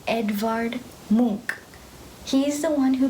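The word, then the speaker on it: Edvard Munch: thank you so the the way that you actually pronounce this name in the second sentence is Edouard Mook she is the one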